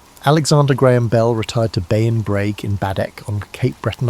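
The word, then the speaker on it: Beinn Bhreagh: Later in life, Alexander Graham Bell retired to Bayon Brag in Baddock on Cape Breton Island, Nova Scotia. Pronounced Benvia, Bel became an American citizen in 1882, but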